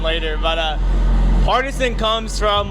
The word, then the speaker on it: Partizen: It's pronounced Parmesan. No, it's Partizen.